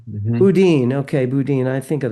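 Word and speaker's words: Boudin: Um Kathy, is it pronounced Budin or Bodin? Bodin.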